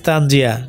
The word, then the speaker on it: তানজিয়া: ইট ইস তানজিয়া নট তানজিগিয়া।